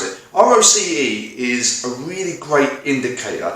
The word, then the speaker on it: ROCE: using the same example now o-r-o-c-e kind of pronounce it roce is a really great indicator to understand what